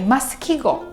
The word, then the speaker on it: 〼: is called “枡記号” (Masukigou) The symbol is pronounced as “masu” It represents “ます” (masu),